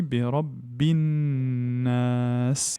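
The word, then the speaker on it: النَّاس: Donc à partir du moment où le lem est suivi d'une lettre solaire, le lem ne se prononce pas. Et donc on dit bi rabbin nas.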